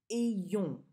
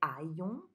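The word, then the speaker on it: ayons: This one is pronounced E-yong. Just the way it's written, really. But a lot of times I hear people who want to say I-yong. It's E-yong.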